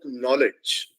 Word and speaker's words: knowledge: we were obsessed about knowledge we say knowledge but have we ever wondered why the spelling of knowledge written in English starts with a K even though the K is silent it is because if